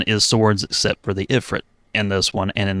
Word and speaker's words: Ifrit: That's interesting because, like, the moment I got Ifrit, I was thinking of, like, and now I pronounce it Ifrit because that's the way they say it in Final Fantasy games now, even though I don't even play them anymore.